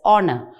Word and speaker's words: honor: welfare of humanity honor the word honor h is silent honor h becomes silent so it is pronounced as honor or the first sound